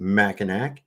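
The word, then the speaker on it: Mackinac: And yes, I'm gonna pronounce it Machinak because if not, is that car Pontia?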